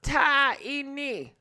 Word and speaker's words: Taina: Yeah, it's pronounced Taina.